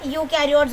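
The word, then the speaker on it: eukaryotes: ई silent है, यूकैरियोट्स बोलेंगे।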